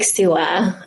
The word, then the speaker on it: Suwa: You went to Lake Suwa. How do you pronounce it? Yes, Lake Suwa.